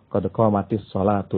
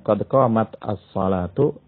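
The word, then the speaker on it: قد قامت الصلاة: Mungkin akan ada yang bertanya, bukankah kalau orang yang iqamah itu bacanya qad qamatis sholatu, ya, kasrah bukannya sukun. Nah, ini merupakan cara baca. Kalau tulisannya qad qamat as-sholatu itu taknya sukun, ya. Akan tapi cara bacanya kalau ingin diwasal, karena ada dua sukun yang bertemu, ya. Karena ada dua sukun yang bertemu, itu dibacanya kasrah.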